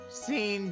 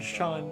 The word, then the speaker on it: Sean: Scene Dingling. John. Yeah, Dingling. See. Yeah. Okay, I'm not going to fault him for pronouncing it that way, but it is Okay, pronounced Sean.